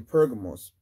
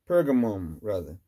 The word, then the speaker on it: Pergamos: now what was satan's seat in pergamos pergam pergamoma you can pronounce either with pergamos had what they called